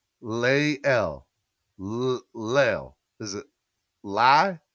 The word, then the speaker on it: Lael: Lael. Lael. Is it Lie? Liel? Liel. Liel. Is it Lieel? Like the phonetic saying? You're going to help me. We're going to get this together. Lael. Lael.